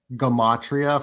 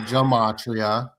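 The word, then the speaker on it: gematria: Like, and I get yelled at because I'll say gamatria, for example. It's and people pronounce it Jamatria, which is fine, but for me it it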